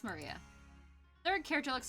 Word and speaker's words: Maria: It's pronounced Maria.